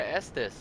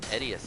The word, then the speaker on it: Estus: Whereas my older roommate in college pronounced Estus his Edius flask.